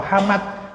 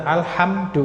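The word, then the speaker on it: الحمد: simai karena dia masdar tidak dibaca humet atau humud atau Hamad atau Hamid atau himid kan gitu tapi dibaca alhamdu karena dia masdar dari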